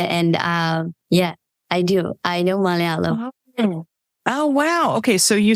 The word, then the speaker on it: Malayalam: I speak Malayalam. Malayalam. Okay. Well, it's hard. Say it again. Say it again. Malayalam. Malayalam.